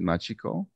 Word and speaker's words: Machiko: Is it Machiko? Yes. Okay. She's a graduate of the San Gabriel Valley Leadership Development Program, and Machiko truly exemplifies a leader